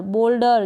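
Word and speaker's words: boulder: फिर ये है बी को ब, ओ, एल को ल, डी को ड, अर, बोल्डर, जैसे शोल्डर है वैसे ही बोल्डर है।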